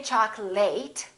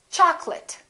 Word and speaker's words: chocolate: say chocolate and remember don't say chocolate it's chocolate i'd like some chocolate and this next word is